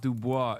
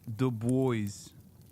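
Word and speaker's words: Du Bois: No, it's not Dubois. It's the boys.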